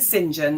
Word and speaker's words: St John: Is it Do you pronounce your surname St. John or Singen? Okay. So, we're pronouncing Singen.